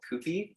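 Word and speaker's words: Kewpie: but it's a a brand of mayo called koopie it's spelled k-e-w p-i-e and what's special about this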